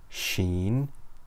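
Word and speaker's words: شين: so repeat after me sheen sheen sheen Sheen looks just like scene but with three dots on the top Sheen makes a sh sound so repeat after me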